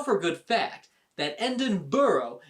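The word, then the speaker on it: Edinburgh: a good fact that endon burrow is not pronounced endenberg bro just when you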